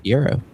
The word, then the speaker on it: gyro: And he was just like, "Euro." I was like, "All right, cool." But that was the first question. I was like, of anything that I could ask this man, how do you say it? And it's still gyro. I was like, I gotta know. Yeah. Us West Virginia rednecks say gyro.